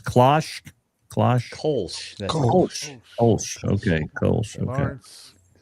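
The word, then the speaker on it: Kölsch: How you pronounce Klosh? Klosh. Kolsch. That's Kolsch.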